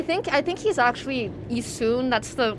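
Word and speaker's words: Issun: Growing Growing up, I always called him Ean, but I think I think he's actually Isun. That's the correct pronunciation of it.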